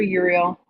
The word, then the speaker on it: Uriel: can work with Archangel Uriel spelled like that like RL but with a u um and uh